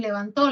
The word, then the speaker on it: levantó: A nivel de sílaba, la sílaba to es la tónica en levantó la mano derecha y en levanto la sílaba tónica es van.